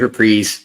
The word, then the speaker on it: Reprise: It is Reprise. My non-music knowledge, it was bothering me. Don't worry about it. It's okay. Sometimes we just put the emphasis on the wrong syllable.